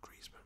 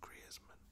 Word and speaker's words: Griezmann: the other day, like you say his name, not Griezmann, but Griezmann.